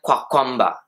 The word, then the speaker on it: Kamkwamba: William Kamkwamba, or pronounced in Malawian, William Kamkwamba.